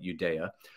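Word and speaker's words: Uyeda: the two Republican Commissioners Hester Pierce and Mark eudea yes I am pronouncing his name right Judea um they both said no they didn't want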